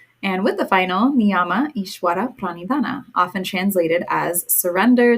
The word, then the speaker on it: Ishvara: talked about before right with the V coming after a consonant in the middle of a word it's pronounced like a w so just a little